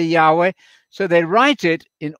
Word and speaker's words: Yahweh: word and it is in hebrew yahweh or yahuwah it wouldn't matter how you pronounce it but probably yahweh so they write it